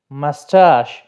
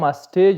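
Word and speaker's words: moustache: مسټاش، مسټاش بریتو ته وایي، دا به مسټیج نه وایي، ځینې خلک د اخره کې سی ایچ چې دی دا د ایچ غوندې تلفظ کوي یا د چی غوندې په پښتو کې.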